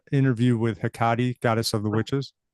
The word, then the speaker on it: Hecate: Interview with Hecate, goddess of the witches. Akate, Hecate, yeah. called lots of different things. That's the current Greek pronunciation, I think.